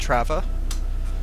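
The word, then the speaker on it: Трава: And there, I think we do emphasize on last syllable.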